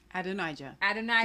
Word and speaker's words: Adonijah: Adonijah.